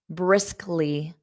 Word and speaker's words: briskly: Number 14, briskly, briskly, briskly. So you have to go from that k to li, briskly, briskly.